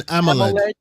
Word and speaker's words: AMOLED: An AMOLED.